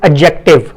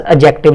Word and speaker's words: adjective: generally its pronunciation is adjective. When a, d, j comes together, in that case we keep d as silent mode. So we pronounce this word as adjective.